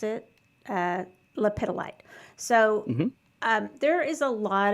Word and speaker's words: lepidolite: I chose one of my favorites is, and this is how I pronounce it, lepidolite.